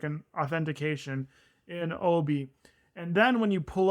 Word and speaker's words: OBI: I think you pronounce it OBI. It's literally the letters OBI.